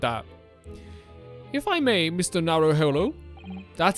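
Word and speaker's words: Naruhodo: Narrowhollow. That's how you pronounce it.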